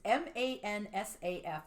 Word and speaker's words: Mansaf: It's called, I'm going to mispronounce it, I'm sure, Mansaf. It's Mansaf, and it's the national dish of Jordan.